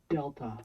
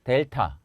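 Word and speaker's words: δέλτα: 영어 발음 은 'd' 이고 , 한국어 에서 도 'd' 소리 라고 생각 하시면 됩니다 . 그래서 알파 , 베타 , 감마 , 델타 처럼 종류 가 다양 합니다 .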